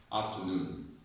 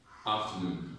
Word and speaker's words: afternoon: So when you see this word, the stress is on noon.